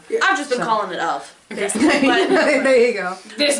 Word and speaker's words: Ove: A Man Called Ove, or Uwe, I think. Uwe, isn't it? I thought it was Ove. My sister pronounces it Ove. I think, well, because in the Academy Awards, this was a Swedish movie, and so they call it Uwe.